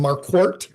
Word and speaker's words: Marquort: I'm Marquort. It's pronounced like a mark in a court.